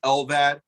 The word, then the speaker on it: LVAD: How do you pronounce it? So the term, the abbreviation is LVAD, which stands for left ventricular assist device.